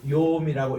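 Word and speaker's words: יום: 무튼 요 나를 할 때는 요거 보면은 요드 콜럼 맴인데 요거를 욤이라고 읽어요.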